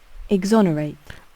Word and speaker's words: exonerate: Exonerate. Exonerate, not exonerate. Okay.